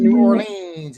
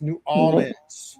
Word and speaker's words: New Orleans: it ain't New Orleans. It's New Orleans.